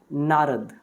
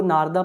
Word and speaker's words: नारद: Named जिसका नाम था नारद। तो आप इसको नारदा पढ़ सकते हैं, वो आपके ऊपर है, बट आई एम not comfortable in pronouncing this word as नारदा, बट I read it एज नारद।